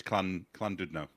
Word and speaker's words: Llandudno: So LL is CL in Welsh.